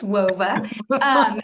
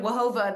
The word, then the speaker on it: Whova: How do you pronounce it? WOVA? WHOVA? Yes. Yes, WOVA. And Hoova. Hoover. Yeah. Oh, okay. I don't know. Tom was calling it Wahova the other day.